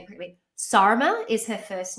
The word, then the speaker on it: Sarma: then i know how i'm saying it quickly sarma is her first name sarima spelled s-a-r-m-a her